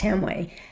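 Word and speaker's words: Hamwi: Christopher Hamway and it's spelled h a m w i, but it's pronounced Hamway.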